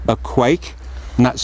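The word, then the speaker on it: quaich: shallow as you can see it's called a quake and that's spelled q-u-a-i-c-h but it's very traditional so Rachel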